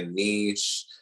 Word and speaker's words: niche: People don't know about finding a niche or niche, however you want to pronounce it.